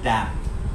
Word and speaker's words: damn: আমরা অনেকেই শুনি হ্যাঁ ডোন্ট গিভ আ ড্যাম উচ্চারণটা হচ্ছে ড্যাম don't give a ড্যাম উচ্চারণটা কি আমরা একটু